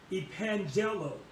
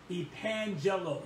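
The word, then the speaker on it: epangello: means and here's one um and this is pronounced epangelo epangelo not spell it for e p-a-n g-e-l-l-o e-pangelo now this word here it means to announce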